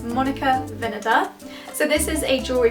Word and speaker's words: Monica Vinader: I discovered the other day that it is pronounced Monica Vinader, not Vinader like I normally say, and that's coming from someone who works in the head office. So if you wondered, it's Monica Vinader.